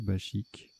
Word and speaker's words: bachique: maubèche embauche chasuble branchu bachique ou bakic à je sais plus c'est pas précisé donc ça doit se prononcer bachique alors voilà trébucha tirage